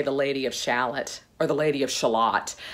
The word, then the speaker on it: Shalott: Maybe it is Shalott. Maybe it is shallot. Shallot just sounds like a small onion.